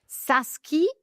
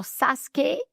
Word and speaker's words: SASCE: We are here to talk about Saski or Saskuke depending on uh uh how you say it.